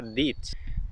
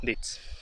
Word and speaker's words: Dietz: Bueno, como seguía, pregunté a un lugareño y se pronuncia Dietz. Suena mejor 10, pero quién soy yo para corregir a esta gente, la verdad. Así que, ni modo, Dietz.